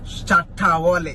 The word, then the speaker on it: Shatta Wale: Yeah, let me pronounce like a Ghanaian, like an African. Shatta Wale. Shatta Wale. Yes, you have to Shatta put Wale. the emphasis.